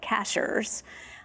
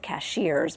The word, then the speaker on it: Cashiers: And they grew up in a small town in western North Carolina called Cashers. A lot of people would pronounce it cashiers, but it's it's truly cashers, North Carolina.